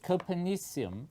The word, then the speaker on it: Copernicium: Today we're going to be watching a video about Copernicium. So, without further ado, let's hop to it. So Copernicium, or Copernicium as the discoverers would prefer it to be pronounced, is the latest name to